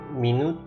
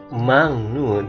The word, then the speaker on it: minute: Minute menit, bukan minute tapi minute.